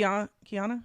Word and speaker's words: Kiana: How how do you pronounce her name? K. Kiana. Yeah.